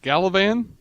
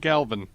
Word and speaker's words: Galavan: I have now heard that dude's name on the show pronounced Galavan and Galvin.